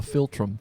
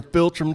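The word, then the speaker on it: philtrum: It's called the filtrum. That's like Dr. Spelled like Dr. Phil.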